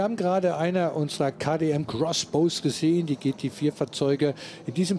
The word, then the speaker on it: X-Bow: X-Bow geschrieben, Crossbow ausgesprochen.